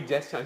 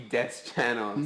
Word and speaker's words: Deschanel: It's like it's such a weird movie because she's just like insulting him like Zoe Deschanel.